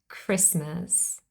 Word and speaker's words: Christmas: also one last word the word Christmas now this is not a French lone word but it contains a silent T and it's a very common word Christmas what about watch or